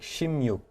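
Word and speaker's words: 십육: bit of different pronunciation when you said 16. So, I see number number six is yuke and number 10 is ship. But when I heard you say 16, it sounded more like shimuk, not so much ship.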